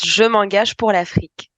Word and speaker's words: Je m'engage pour l'Afrique: It's Je m'engage pour l'Afrique.